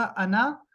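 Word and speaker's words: أنا: है ए एन ए ये जो आखिरी अलिफ है ना आना में ये साइलेंट है इसको नहीं पढ़ना ये आखिरी जो ये है ये अलिफ नहीं पढ़ना सिंपल आना का मतलब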